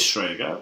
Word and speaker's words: Strega: That we're actually pronouncing this right this time. Is it Strega?